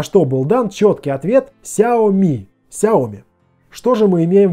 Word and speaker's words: Xiaomi: гарантия и конечно я спросил как же правильно произносить название компании на что был дан чёткий ответ Xiaomi Xiaomi что же мы имеем В итоге плюсы